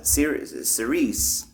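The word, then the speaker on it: Cirice: female name sounding so I wanted to sound like a female name like like Clarice s so that it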